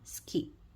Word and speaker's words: ski: SKI라는 단어는 S가 시옷, 그다음에 I는 I와 E 발음 두 개가 있다 그랬는데 여기서는 E 발음이 납니다. 그래서 스키.